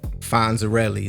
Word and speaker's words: Fonzarelli: Fonzarelli, like the Fonz.